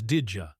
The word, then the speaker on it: did you: The D sound and the Y sound mixed together to make a J sound. So, did you becomes did you?